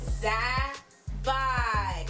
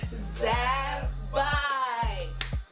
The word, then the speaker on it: Zabbai: So pronounce it with me. Zabbai. Oh, I don't think you guys got it. Let's do it together. Zabbai.